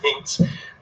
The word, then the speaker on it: Minsk: and was born in Minsk, not Minsk, Minsk. I always have so much trouble saying that.